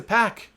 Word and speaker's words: PAC: look I went to pack and I said dude how do you pronounce your name and he said it's pronounced PAC so don't yell at